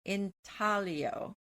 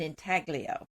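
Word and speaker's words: intaglio: In Italian, it's pronounced inalio and the G is silent. But in English, we call it an inaglio.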